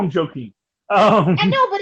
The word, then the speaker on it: Joaquin: No, but it is a Spanish name, so if you could just pronounce it correctly.